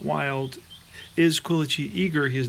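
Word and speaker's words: Quilici: And it's Quillacy, Frank Quillacy, thanks to a very cool watcher. He contacted me about my pronunciation of his name, which was atrocious, beyond atrocious.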